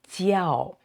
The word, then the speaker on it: 叫: So this J sound, this letter J in Chinese is pronounced Ji, and with a I, so Ji, E, and this one is Ao. Together is Jiao.